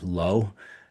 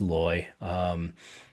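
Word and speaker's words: Leu: And I kept pronouncing loy numismatic as low because it looks like low to me, but it's loy.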